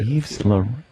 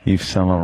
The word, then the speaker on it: Yves Saint Laurent: Yves Laurent. You don't agree with what? Yeah, they're They're what? Tactics. Tactics. Maybe I don't say it right. Yves Saint Laurent. They're tactics. What did you say? Eva what? Who? What's the designer? Yves Saint Laurent. Yeah, that's right, actually.